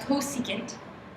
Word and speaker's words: cosecant: and it's just c s c and it's pronounced cosecant okay um this is not on the calculator